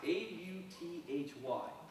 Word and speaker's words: Authy: Another one is it's pronounced A-U-T-H-Y.